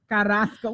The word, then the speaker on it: Carrasco: So that's Carrasco. Did I say it right? Yes, you said it right. Carrasco.